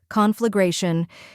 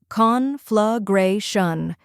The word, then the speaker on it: conflagration: Then comes gray, which rhymes with day and is the stressed syllable.